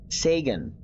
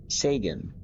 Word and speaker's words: Sagan: Sagan.